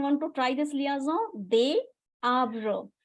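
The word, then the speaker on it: des: so d s is they because you don't don't have to pronounce the ending consonant so they and Fe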